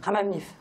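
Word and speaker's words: Hammam-Lif: Et puis Lanterne Rouge, c'est Haman Lif. C'est comme ça vous le prononcez? Hamamlif. Hamamlif. Hamamlif. Oui.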